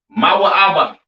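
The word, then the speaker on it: מואב: have Moab all right Moab pronounced ma ABA right the children of Moab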